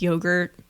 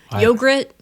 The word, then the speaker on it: yogurt: And how can you mispronounce yogurt? Right? Yogrit.